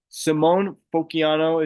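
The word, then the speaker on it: Simone Fontecchio: Simone Fociano is how you say name.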